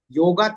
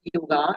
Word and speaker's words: yoga: So, what is exactly yoga? As uh we pronounce it yoga actually it is yoga.